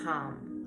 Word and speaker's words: Ham: The mantra for the throat chakra is So it's spelled like ham, but it's hum, okay?